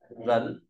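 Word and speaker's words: 人: từ nhân là người đọc là rấn lớ không đọc rấn rấn rấn đ ta có từ nhi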